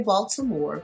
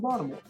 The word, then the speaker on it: Baltimore: Right now, I can say Baltimore because that's how it's spelled, but I'm from Baltimore. You probably won't even hear the T.